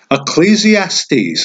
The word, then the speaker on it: Ecclesiastes: here's how here's how it works proverbs okay ecclesiastes that's how you pronounce that solomon's song or the song of